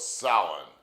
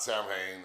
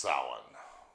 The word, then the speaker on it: Samhain: Well, before it was ever called Halloween, it was the ancient Celtic festival of salin, pronounced s o w i n.